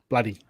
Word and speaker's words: bloody: Just Bloody take out the two O's and put a U there. Bloody.